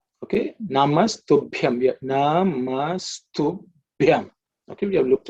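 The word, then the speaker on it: नमस्तुभ्यम्: Look at the Ub, which is the fourth letter in the Pa Varga, to Bhyam. That's the way you should pronounce. Ub plus E plus A plus Anuswara, which is the dot at the top, gives you Ub plus Yam. Ub, Yam gives you Bhyam.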